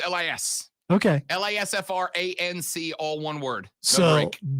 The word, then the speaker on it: Lisfranc: A Lisfranc, Lasfranc, is a tarsometatarsal fracture dislocation characterized by traumatic disruption between the articulation of the medial cuneiform and base of the second metatarsal.